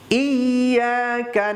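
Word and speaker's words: إِيَّاكَ: ইয়াকা, ইয়াটাকে দুইবার উচ্চারণ করতে হবে, ইয়া, এটাকে বলে তাসদিদ। তাসদিদ যেখানে থাকে সেখানে সেই অক্ষরটাকে দুইবার উচ্চারণ করতে হয়, ইয়াকা। অনেকে বলে ইয়াকা ইয়াকা, এমনটা নয়, ইয়াকা নাবুদু, না, এখানেও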